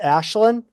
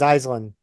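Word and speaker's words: Aislinn: name is actually uh the actual Irish pronunciation is Ashlin oh what I said as Ashen well the the the uh the Americanized pronunciation is iseland all right I get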